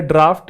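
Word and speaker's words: draught: अच्छा एक वर्ड और होता है डी आर ए यू जी एच टी देखो ये है ड्राफ्ट ये है ड्राउट और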